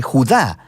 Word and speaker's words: Judá: carta de judas o más precisamente jugar de acuerdo con la pronunciación de su nombre tanto en griego como en hebreo judá era uno de